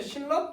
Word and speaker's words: 신라: 그럼 대표적인 단어들 우리 신라라고 하는 게 있어요. 그러면 신라 또한 역시 니은하고 리을 만났잖아요. 그럼 어떻게 된다고? 신라 이렇게 변해요.